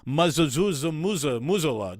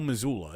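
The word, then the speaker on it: Mazzulla: how to motivate his team better than Joe muzola doesn't we don't need to learn how to pronounce that no it's Joe Missoula it's just it ain't happening Joe what was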